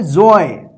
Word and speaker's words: joy: में OY रहता है तो OY का ओए उच्चारण होगा, ठीक है। जैसे यहां पे देखिए JOY, इसको क्या पढ़ेंगे, जॉय, TOY, टॉय, BOY, बॉय, ठीक है ना।